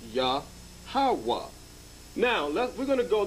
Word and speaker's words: Yahawah: syllable breakup the tetragram the y the h and the w and h is pronounced ya hawa now we're going to